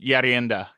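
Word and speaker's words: ерунда: yeah, it's pronounced Yarenda because it's Cyrillic.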